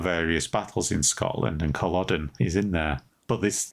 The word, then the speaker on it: Culloden: Do we know for sure or is that 80 80 pronunciation? No, that's how you say it. Culloden.